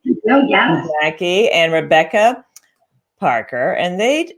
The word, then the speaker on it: Maki: I think you pronounce it. Is that right? Oh, yes. Maki and Rebecca Parker.